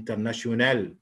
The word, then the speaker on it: international: طبعا لو الطالب بيسمع ولقاها international, international, فهنقول له والله خلي بالك ده في الامريكان اكسنت بينطقوا التا لما يجي وراء قبلها نه بينطقوها ايه؟ نهيه كمان فتتسمع كانها نه كان التا مش موجوده كانها نه بس international, inner, international, international.